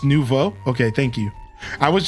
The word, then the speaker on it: nouveau: Oh, it's French for new? Okay, so it's just nouveau?